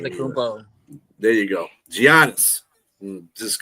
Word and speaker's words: Antetokounmpo: now, what's his face and I can never pronounce his Giannis damn name. Antetokounmpo. There you go, Giannis. Just gonna say I'm a Giannis. big fan of him. Antetokounmpo.